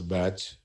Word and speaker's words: BAT: Use the support of BAT file. Pronunciation is batch.